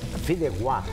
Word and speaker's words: Fideuá: Outro detalhe, filéguá, você falou o nome certo, porque vem do catalão. Ah, tá. Então o catalão, o A, eles têm essa pronúncia de G, né?